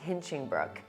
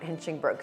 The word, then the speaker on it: Hinchingbrooke: credit card say Viscount Hinchingbrooke? And he looked at me in somewhat horror and said, no, it's not pronounced that way. It's pronounced Viscount Hinchingbrooke. So of course I looked